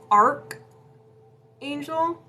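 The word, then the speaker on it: Archangel: It's pronounced Arc Angel. It is Arc.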